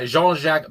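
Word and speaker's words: Jean-Jacques: say his name and he said it very French and I did take French uh a long time ago but it's been again it's been a while but uh Jeanjac Bjernell I want to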